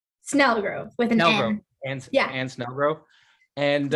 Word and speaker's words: Snelgrove: I'm here with David mccarriker and and smelgro smelgrove how did I did I pronounce that right Snell Grove yeah and snow Grove and um we're here